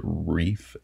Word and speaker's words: Rife: All right, next one up to go into A tier is going to be Reef, or Rife Knives. I believe they pronounce it Reef.